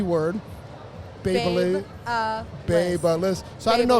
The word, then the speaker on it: Babyliss: briefed about how to say the B word, Babyliss. Babyliss. So I didn't know if you Babyliss. guys were briefed on how to say Rapido. Listen, I didn't know how to Rapido. say Babyliss until like last year.